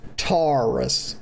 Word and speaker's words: Taris: Number two, it's not pronounced Taris. That's incorrect. Please stop saying that. It's pronounced Taris, okay? Taris. Not like a Ford Taurus. That's a Taurus, okay? That's a car.